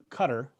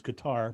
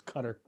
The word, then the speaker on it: Qatar: i performed in uh cutter or you know the mispronunciation is qatar but it's cutter that's how they said over there and um on that